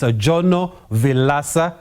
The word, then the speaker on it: Jono Vilaca: It's 2025, and to find out more about this popular form of racing, we've roped in studio founder of the series, Jono Vilaca, which explains the name of the motor racing series, right, Jono?